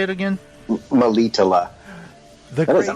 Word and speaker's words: Melitele: Melitele.